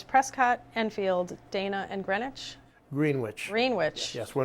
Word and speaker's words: Greenwich: Greenwich. Greenwich. Yes, we're not in New York, Connecticut, or the prime meridian of London. They pronounced it Greenwich, these people.